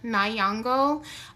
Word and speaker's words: Nyong'o: So I think it's pronounced Lupita Nyong'o.